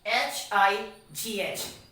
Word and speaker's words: high: first example you can see here is what h i g h high next example we have is what t